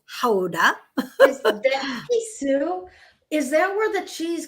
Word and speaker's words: Gouda: we were in houda which everyone pronounces as gouda and but really it's houda is that where the